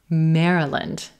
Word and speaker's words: Maryland: Maryland, Maryland. Yeah, this one's a little tricky. This is red pepper, Maryland. It's a vowel plus purple shirt combination.